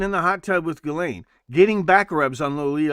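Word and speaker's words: Ghislaine: It's pronounced Gileain. What you need to be thinking is the tubes have ears. Sitting in the hot tub with Galain getting back rubs on Lolita Island airport.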